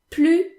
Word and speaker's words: plus: s is silent and plu translates to either anymore not anymore or no more okay there's another case where the s in plu is silent and that is the